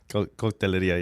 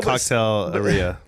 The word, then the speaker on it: Cocktaileria: Cocktaileria, yeah. But you said it right. Yeah. But no, Cocktaileria.